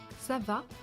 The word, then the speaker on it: Ça va: Ça va. At the end of French questions, you have to go up. In most languages, it's like that. Ça va?